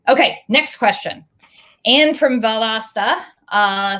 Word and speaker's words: Valdosta: more organized um okay next question anne from valdosta uh says did i pronounce that right valdosta you got it all right uh as an